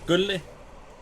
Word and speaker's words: Gulle: Gulle. Okay, so like Gully, but with a little more emphasis on the Gulle.